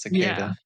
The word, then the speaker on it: cicada: that it is spelled weird but yeah it's pronounced cicada open to America anyway what was your what